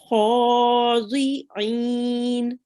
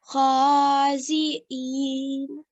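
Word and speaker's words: خاضعين: Now this dod here, you can pronounce it as zi or you can pronounce it as dui. Okay, so both is fine. If you would like to pronounce it as dui, you can say khadi'in.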